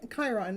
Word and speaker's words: Chiron: I didn't figure that part out but Chiron Chiron that's how you say it find out what